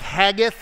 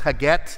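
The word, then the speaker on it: Haggith: adonijah whose mother was it looks like hath it's not it's haget that's how you say it that's a unfortunate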